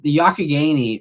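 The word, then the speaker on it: Youghiogheny: The Yakagani is how you say that other one there. At least that's the way I say it.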